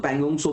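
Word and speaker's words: Pangong Tso: पैंगोंग तिसो जो है आपका, टी साइलेंट है तो पैंगोंग सो बोलते हैं हम लोग।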